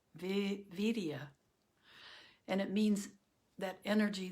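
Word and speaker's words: viriya: It's V-I-R, it's V-I-R-I-Y-A, and it's pronounced vidya or virya, vidya.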